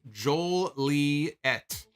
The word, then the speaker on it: Joliet: theme I think also my hometown is pronounced Joel Lee ET good reference for future